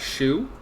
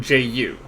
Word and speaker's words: Zhu: sandwiches in right but the way they're pronouncing it it's Jew like ju like juice right so ju Yuan